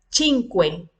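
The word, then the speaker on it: cinque: El cinco se pronuncia chinque, el seis igual que el tres, le quitamos la S al final.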